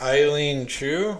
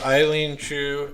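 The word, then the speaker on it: Eileen Gu: um so since that um i think it's eileen chu is that how you say her name the yeah yeah so eileen chu is an 18 year old she is an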